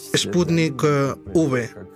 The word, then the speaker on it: Sputnik V: su autor kirill dmítriev él lo pronuncia y por ende yo también como sputnik v v como en victoria así es cuál es